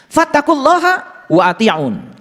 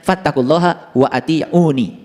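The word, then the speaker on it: فاتقوا الله وأطيعون: Fattaqullaha wa ati'un. Nah ini sebetulnya dibacanya harusnya fattaqullaha wa ati'uni. Dibacanya harusnya begitu.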